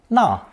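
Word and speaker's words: 那: When double pelt ran is combined with the city or town radical, a character pronounced 3 different ways, na, and nuo, was created.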